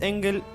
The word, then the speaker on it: Engel: ¿Engels? ¿Engels está bien? En realidad es sin S y es Engel, Engel.